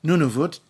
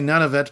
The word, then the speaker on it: Nunavut: Nunavut which is pronounced Nunavut you could say Nunavut you can say none of it but why would you when you can say